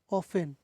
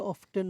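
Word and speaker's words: often: usually usually usually সাধারণত অফেন শব্দটা অফটেন না অফেন অফেন টিটা সাইলেন্ট থাকবে অফেন সরি এতক্ষণ পর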